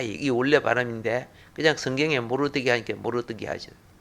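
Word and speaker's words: Mordecai: 또 모른다 간다 조 뭐라고 누구라고 에 원래 발음은 모르 데카 이 모 르 데카 2기 올려 바라는데 그냥 성경의 모르드개가 이렇게 모르고 어떻게 하죠 자 유대인들이 아마네 미움을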